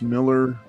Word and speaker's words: Millar: they yep yeah um Mark Millar pronounced Miller uh no I think